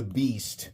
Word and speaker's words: Beest: This is called the beast, and it's spelled be e.